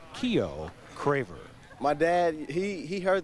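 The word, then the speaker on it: Keyuo: K-E-Y-U-O, pronounced Keo Craver.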